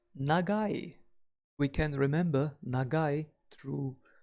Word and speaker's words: 長い: the symbol for long we pronounce long as negai we can remember negai